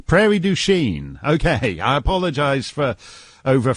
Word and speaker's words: Prairie du Chien: how do you say prairie du chien how do you say it very ding oh you've anglicized it it's like all the